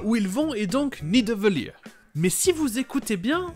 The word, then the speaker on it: Nidavellir: Avant, au final, de le prononcer correctement bien plus loin dans le film. Nidavellir.